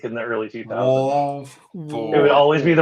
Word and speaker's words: Wolford: All I know is the last thing before we cut the camera is like, it's pronounced Wolford, right? And you're like, yeah.